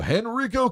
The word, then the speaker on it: Henrico: Henrico County, that's the way I call it.